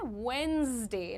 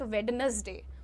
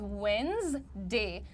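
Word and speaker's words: Wednesday: 10-10 word करके उनका उच्चारण ठीक करवाइए आप लोग। अब यहां पर देखिए बुधवार को अंग्रेजी में कहते हैं वेडनेसडे। नॉट वेडनेसडे। ठीक है? इट इज़ वेडनेसडे।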